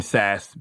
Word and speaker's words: Sasse: Ben Sasse, Ben Bass. It all rhymes with ass.